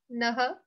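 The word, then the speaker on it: naḥ: Okay, so these words we have to pronounce the ha longer. Naha, mati, and manaha mithaha kalaha.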